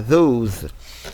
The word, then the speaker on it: those: W là-bas, n'est-ce pas, et le S se prononce comme Z. Donc on a those.